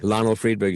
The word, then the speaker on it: Lionel Friedberg: And Lionel, I should have asked you before we started, am I pronouncing your name correctly? Yeah, you got it spot on. Lionel Friedberg is exactly right.